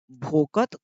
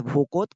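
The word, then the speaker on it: ভকত: भोकोत यानी कि पश्चिम बंगाल उधर साइड में, असम पश्चिम बंगाल थोड़ा आप जानते हैं कि किस प्रकार से प्रोनाउंसिएशन होता है। तो भक्त ही है ये, इसका मतलब क्या है, भक्त ही है, लेकिन उधर का क्या कहा जाता है, भोकोत कहा जाता है।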